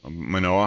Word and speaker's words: Manoa: of Hawaii in in monoa is that pronounced correctly yes manoah Honolulu his mentor Dr